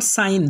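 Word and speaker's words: sign: इसके बाद का नेक्स्ट रूल है, जब जी के बाद एन आ जाए तो जी साइलेंट होगा। यानी जी के बाद फ़ौरन बाद एन आएगा तो जी साइलेंट हो जाएगा। जैसे पहला वर्ड है फॉरेन, पहला वर्ड फॉरेन, दूसरा वर्ड साइन, तीसरा वर्ड रिज़ाइन, चौथा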